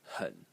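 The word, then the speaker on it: 很: Probably the most interesting character in this entire series is pronounced hun. H in the third tone and it means very very.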